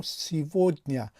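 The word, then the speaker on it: сегодня: چیز دیگری درباره این کلمه گفتنی هستم که ما سیگودنیا می نویسیم اما سیودنیا تلفظ میکنیم، یعنی حرف گ در این کلمه و تلفظ می شود.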